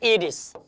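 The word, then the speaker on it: heiress: ये जो आपका लिखा हुआ है एरिस, इसका प्रोनाउंसिएशन होता है एरिस। प्रोनाउंसिएशन क्या होता है? एरिस। तो एरिस का प्रोनाउंसिएशन किससे आ रहा है? आपका आ रहा है कंसोनेंट से, नहीं वॉवेल से आ रहा है। तो क्या होना चाहिए? एन होना चाहिए।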